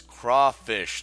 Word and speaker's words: crawfish: boys and girls I already told you it's crawfish not claw fish I'm an idiot all